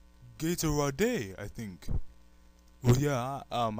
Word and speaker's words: Gatorade: d e that is that's how you say Gator I think well yeah um I'm I'm sorry to say this but our language is not phonetic and it seriously is pronounced Gatorade I'll show you commercial after the show's over